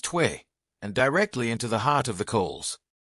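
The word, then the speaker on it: tuyère: The air was forced through a metal pipe called the tuyere, pronounced tway, and directly into the heart of the coals.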